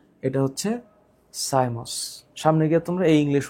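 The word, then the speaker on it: cymose: এখানে উচ্চারণটা একটু মনে রাখো। একটার নাম হচ্ছে রেসিমোস। একটার নাম রেসিমোস। আরেকটার নাম সাইমোস।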